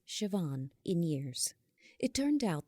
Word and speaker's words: Siobhan: call her by her full full Irish name pronounced Siobhan in years it turned out that Uncle Shawn